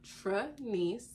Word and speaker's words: Trenyce: of my not meaning of my name and pronunciation so the me my name is Tranice I'm gonna put it literally right here for